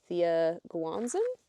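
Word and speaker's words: Thea Guanzon: one being Tusk Love by Thea Guanzan. That's how you pronounce that.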